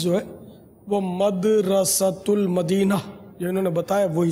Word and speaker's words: مدرسۃ المدینہ: صحیح تلفظ جو ہے وہ مدرسۃ المدینہ جو انہوں نے بتایا وہی درست ہے.